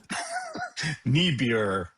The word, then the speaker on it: Niebuhr: How do you pronounce this name, Todd? It's Reinhold, not Judge Reinhold. Reinhold, what is it? Niebuhr.